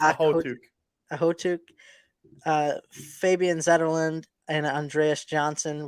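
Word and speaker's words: Okhotyuk: Nikita Ohudiak. Oh, see, you fucked up that one. It's Ahotuk.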